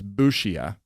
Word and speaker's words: Busia: The locals say it's Busia.